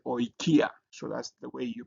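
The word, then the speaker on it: οἰκία: The next one is Oi, like in oil. So like in this word oikia.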